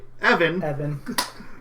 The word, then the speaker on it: Even: The boy's guardian, I hate that it's pronounced this way, Evan, thanked Ben for his heroism and pointed him towards Terra.